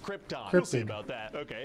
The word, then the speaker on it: Krypton: on the Planet Krypton oh Krypton huh it's pronounced Krypton we'll see about that okay and so this